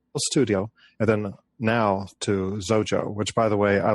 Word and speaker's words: Xojo: you know it Rhymes rhymes with Xerox and everyone knows how to say Xerox so yeah yeah it's